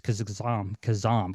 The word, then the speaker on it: Khozam: It's Khozam correctly. So I'll say that. Khozam. I said it wrong.